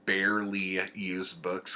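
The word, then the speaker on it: Bearly Used Books: other place in town called Barely Used Books cuz it's Big Bear and it's spelled like a bear and I went up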